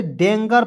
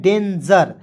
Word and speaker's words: danger: उसके बाद DANGER, तो इस बहुत लोग इसे डेंगर पढ़ लेता है, नहीं, इसे पढ़ना है डेंजर। जी का उच्चारण यहाँ पे ज के रूप में करना है, ठीक है जी।